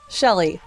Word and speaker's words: Chely: Uh my name is Shelley, but it's spelled with with the C.